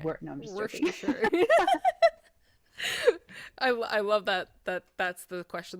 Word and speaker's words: Worcestershire: Worcestershire. Worcestershire. Some people haven't pronounced it.